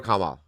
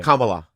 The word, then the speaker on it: Kamala: I voted for Kamla. You can't even say her name. You felt like you were your mouth rejected her name. Kamala.